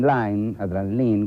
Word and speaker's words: Lyne: Vamos a ver, en primer término, una película de Adrian Lyne, como ustedes quieran, se escribe Line con Y, Adrian Lyne.